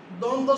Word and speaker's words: দ্বন্দ্ব: এক নম্বর হচ্ছে আমরা যদি বলি দ্বন্দ্ব সমাস।